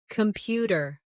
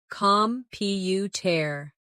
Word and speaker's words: computer: Computer. The stress is on the second syllable. Compu tear.